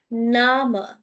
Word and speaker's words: Name: So first, the spelling is same, but the pronunciation is Name, Name.